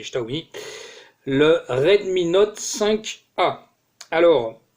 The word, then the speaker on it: Xiaomi: Bonjour à tous et bienvenue aujourd'hui pour le test de ce Xiaomi, ou Xiaomi, ça dépend comment vous le prononcez, mais en chinois c'est Xiaomi, le Redmi Note 5A.